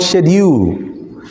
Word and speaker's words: schedule: oft en is often s-c-h-d-u-l-e schedule right but no uk they're called shedu same word different pronunciation the same thing games